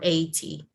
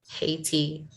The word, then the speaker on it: Haiti: Haiti or 80. No, Haiti. Haiti. We have to pronounce the H sound.